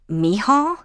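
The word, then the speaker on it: Mícheál: And you called your grandson Mihal? Yes, that's how it's said in Irish.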